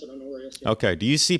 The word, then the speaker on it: Honorius: I always pronounce it Honorius.